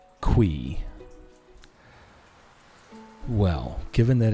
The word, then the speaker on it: Qi: Okay, so I always thought it was key. And there are others who would sayqi, which both are technically correct, right? You could pronounce it key orqi based on the spelling. But then the 10th anniversary video came up and in that video it was pronounced qui.